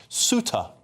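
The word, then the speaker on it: Ceuta: Uh apparently that place is James has said here, James H said it's pronounced Suta.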